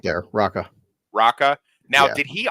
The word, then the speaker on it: Raka: The Raka, orangutan right there, Raka.